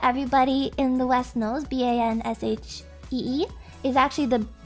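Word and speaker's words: bean sidhe: the banshee that everybody in the west knows b-a-n-s-h-e-e is actually the it's pr it's spelled b-e-a-n-s-i-d-h-e banshee but it's pronounced she there's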